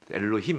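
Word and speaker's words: אלהים: 이제 최초의 창조하시니라까지 보았습니다 그 다음 나온 단어가 엘로힘인데 세 번째 단어가 엘로힘이라고 읽히는 겁니다네 이게 하나님이죠 근데 복수형 명사입니다 복수형 조사예요 엘로힘 한 복수형 명사입니다 근데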